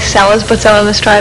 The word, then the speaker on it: Seles: But now, some of the people, you're from Yugoslavia originally, and some of the people were pronouncing your name, I guess, was Selic, right? Seles, yeah. Actually, it's always Seles, but some of them try with an S, and Yeah.